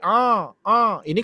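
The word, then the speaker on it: ع: Karena karena pengucapan ain itu a aa bisa dibayangkan ya, bukan a a tapi aa ujungnya seperti hamzah ya. Karena ee untuk huruf ain ini penekanan ee katup epiglotisnya itu di awal.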